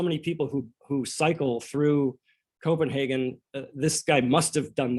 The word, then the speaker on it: Copenhagen: I always thought it was Copenhagen until I heard him say it. Copenhagen. That's the way they pronounce it in Denmark.